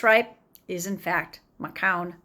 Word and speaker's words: Macoun: We do know that, in fact, it is Macoun because his father also was a famous Canadian. The pronunciation of the last name is very well established.